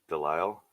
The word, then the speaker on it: Delisle: You don't pronounce the S. Delisle. Okay. Yeah. So Delisle, French.